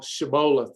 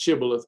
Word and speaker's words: Shibboleth: practical sustainable and fun lifestyle that we call shabola actually it's pronounced shibboleth but we all love saying shibola so that's what we'll do uh but uh